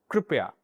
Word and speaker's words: कृपया: इसका सही उच्चारण कुछ इस तरह से होता है। र इस तरह से र तो येकि स्वर है मैं आपको बता दूं और इसकी मात्रा इस तरह से लगती है तो इस शब्द का उच्चारण कुछ इस प्रकार से किया जाएगा। कृपया कृपया कुछ इस तरह से कृपया।